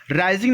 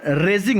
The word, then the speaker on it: raising: राइजिंग नहीं होगा, रेजिंग होगा। स्पेलिंग देखिएगा इसकी अलग हो जाती है। रेजिंग, रेज योर हैंड बोलते हैं ना, तो कोई चीज़ जब आप खुद उठाते हैं, खुद आगे बढ़ाते हैं, तो RAISING, रेजिंग हो जाएगा।